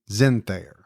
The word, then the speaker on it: Zenthofer: Now, she sent me the pronunciation. I believe it's Allison Zenthayer. Really? But I would never have gotten that from the spelling.